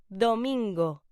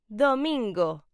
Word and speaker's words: domingo: Sunday is pronounced domingo. Say it with me. Domingo.